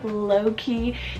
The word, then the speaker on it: Loki: L name here is Loki spell l-o-k-i low-key this is cute but